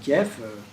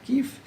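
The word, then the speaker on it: Kiev: Donc on prononce souvent Kief en France mais on devrait dire kiff.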